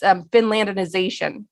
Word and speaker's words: Finlandization: It's Finlandization. We're just making up all sorts of words on this show. We've got Nazarbaification. Finlandization it's Finland with ization at the end, and it's considered by many Finns as derogative.